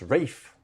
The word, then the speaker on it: Ralph: Even though it's spelled Ralph, it's definitely a Rafe. Ursula Vaughn Williams wrote it in her book that um Rafe used to cringe when people used to call him Ralph.